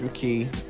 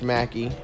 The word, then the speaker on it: McKee: this channel he's with coach mckee or coach mackie i'm sorry um and uh it spelled like mckee but i remember he said that anyway he's talking about